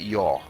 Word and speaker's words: ja: To say yes in Swedish is ja, J-A. That's how it's spelled. Ja. But we're too late. Hang on, you to say spell yaw. it. Hang on, you spell it J-A. You say it yaw.